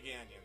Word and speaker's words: Gagnon: to apologize for that it's a canyon Renee ganyon 13 car Tyler Smith